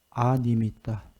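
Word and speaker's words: animitta: A자 앞에가 그게 아라고 발음하는데 니미따라는 단어 많이 나오는데 거기에 A자가 붙은 거예요. 니미따가 아니다. 안 니미따다. 그 소리예요.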